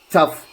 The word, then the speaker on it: tough: examples from rule 1, GH is sometimes pronounced like F. Consider the words below. Drought. So, and if you just look, cuff, laugh, tough. Here, it is sometimes pronounced as F.